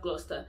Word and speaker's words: Gloucester: Leicester, Worcester, Bicester, Chester, and we have Gloucester too. Yeah, and we have Gloucester. So those five examples, you have to change the cester to star. You don't pronounce it the way you spell it at all.